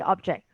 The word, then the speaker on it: object: Yeah, yeah, the object. Right? I object. I disagree. Okay, let's see object. whether I have a So the stress is on the jets, is it? jack, yes, on the second syllable.